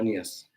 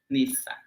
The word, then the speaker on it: nías: En el istmo igual dicen nías, pero es como nisa. Pero nosotros es nías.